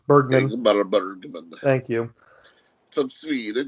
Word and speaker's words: Bergman: Written and directed by Ingmar, I can never say his name, Bergman.